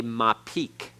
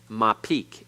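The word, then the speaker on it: mappiq: is not a dogish it is called a mapique ma Peak m-a-p-p-i-q my Peak m-a-p-p-i-q the ma Peak hardens the hay to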